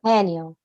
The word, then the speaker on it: Haniel: mention and you use Archangel hanel am I pronouncing her name correctly Haniel yep Haniel why did you choose her because Archangel hanel